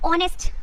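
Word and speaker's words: honest: अब यहां पर देखिए एच है वो एक वाउल लेटर नहीं है लेकिन अगर आप इसको प्रोनाउंस करोगे तो ऑनेस्ट ओ साउंड यहां पर आता है इसीलिए हम एन यूज करेंगे एंड आवर अब यहां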